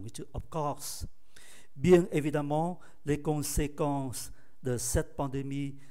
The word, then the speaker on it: évidemment: Évidemment, đọc phát âm là A, xuất phát từ tính từ évident.